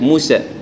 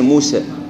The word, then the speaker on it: موسى: أول خطأ عدم فتح الفم بمقدار المطلوب عند النطق بها موسى، يعني كيف الناس يقول موسى، بس كان موسى بينهم موسى، يعني الألف لازم يعطى حقه، فموسى فرق بينها بين موسى، فموسى هو الصح.